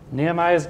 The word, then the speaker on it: Nehemiah: Nehemiah's gospel. Or, if you pronounce it in Hebrew, it's Nehemiah. Nehemiah. That's Nehemiah. So, in chapter 1, we